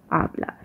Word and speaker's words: hablar: your English H, while the actual H, the H in Spanish, which is he, is just silent. So that's why if we're talking about hacer, it would be hacer, not hacer. Or in the last video when we were talking about hablar, it wouldn't be hablar, it would be hablar.